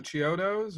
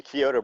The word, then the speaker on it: Chiodo: did you work with the Chiodos or? Yeah, the Kyoto brothers.